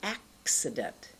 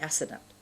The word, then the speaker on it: accident: what I'm doing here I'm actually saying accident many people mispronounce the sounds and say acident or assault that's wrong you've got to get that slight sound here and to do that you